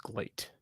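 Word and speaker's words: GLEAT: what a gleet is I think glate I think it's pronounced glate it's GLE a t I'm aware of that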